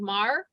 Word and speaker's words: Moher: for the Cliffs of Moher. Is that how you say it? Yeah, Moher, Cliffs of Moher.